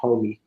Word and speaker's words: Homi: It's called Homie, like Homie, like a homie, Yeah. Oh, okay. Uh-huh. but it's spelled HOMI.